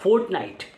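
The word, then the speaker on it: fortnight: उसके बाद फोर्टनाइट, are silent रहेगा, फोर्टनाइट, FORTNIGST, फोर्टनाइट, फोर्टनाइट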